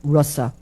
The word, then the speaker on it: rasa: So similarly, we have the short a, which is pronounced like the English short u, like bus, we have rasa.